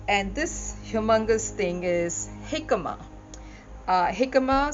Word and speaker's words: jicama: And this humongous thing is jicama. Jicama spelled Jicama. Obviously, from my pronunciation, you know it is from Mexico.